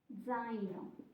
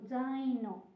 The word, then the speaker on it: zaino: Then it has the first letter is the sound with a Z. In Italian, you spell it with one letter, so one consonant, but the sound has two consonants because it's d, z.